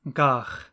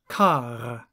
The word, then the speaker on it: qagh: English speakers call this dish gagh, but the pronunciation of the original Klingon word is a little different. So gagh, a dish of serpent worms, is qagh, qagh.